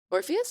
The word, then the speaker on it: Orpheus: Orpheus.